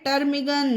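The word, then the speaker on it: ptarmigan: तो पी के बाद आपको NST दिखे तो आपको वहां पर पी साइलेंट रखना है, उसका उच्चारण नहीं होता है वहां पर, ये चीज ध्यान रखनी है आपको।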